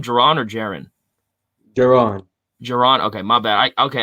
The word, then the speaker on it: Jaron: Jaron.